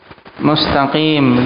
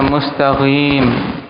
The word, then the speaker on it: mustaqim: ha diganti dengan ha mustaqim dia baca mustagim dengan gain ini lahan jari karena